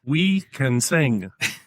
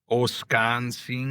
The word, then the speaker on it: Wisconsin: All right, so I'm using the words we can sing. That is wrong-a. I know that is wrong-a. I but I don't know how you It's It's the Native American way that they would pronounce Wisconsin back way in in the day. So, it's like Oskonseen.